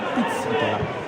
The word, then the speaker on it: Pizzitola: È stato richiamato perché il cognome è tipico delle zone di Castelvetrano e l'accento va sulla seconda E, quindi Pizzitola.